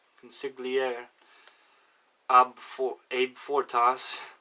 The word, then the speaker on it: consigliere: can't pronounce this one because it's con sick Lee air consigliere said a French word I don't know it's felt like that con sick the CEO in sigl ie re consigliere up for aid for